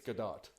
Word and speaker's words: Gadot: it's good dog hmm it's not French okay cuz it's good oh I assure you as married to a Jewish woman it's gadot I don't believe you